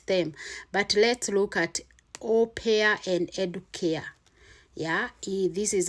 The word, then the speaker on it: au pair: You see the spelling, au pair, that's how it's pronounced, close to that.